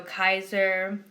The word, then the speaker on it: Kaiser: Now I'm saying December, if you notice I've been saying that, that's because C's in Latin are pronounced K's, like K's. So Kaiser, December, and then V's, if you've noticed, November V's are pronounced like W's.